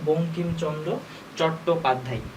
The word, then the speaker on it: বঙ্কিমচন্দ্র চট্টোপাধ্যায়: প্রথমে আমাদের নামটা ঠিক রাখতে হবে, সেটা হচ্ছে বঙ্কিমচন্দ্র চট্টোপাধ্যায়। আর এখানে এটা হচ্ছে আমাদের উময় ক, এখানে কি আছে এটাকে ভাঙলে পাবো হচ্ছে আমরা উময় ক, ঠিক আছে। এটা হচ্ছে আমাদের উচ্চারণ হবে বঙ্কিমচন্দ্র চট্টোপাধ্যায়।